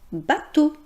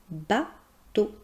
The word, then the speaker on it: bateau: On prononce ce mot bateau. On voit les lettres E-A-U-X, mais imaginez que la prononciation est tout simplement comme la lettre O, bateau.